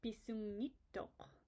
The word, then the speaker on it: bisungittuuq: But if you drop the K and you say bisungittuuq, notice how it flows a lot easier. It's a lot easier to pronounce.